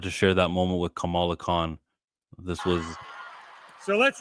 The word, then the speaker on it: Kamala: He called her Camilla. That's not a slip of tongue. That's not, oh, Kamala Harris calls herself Kamala. They're spelled the same way, Kamala.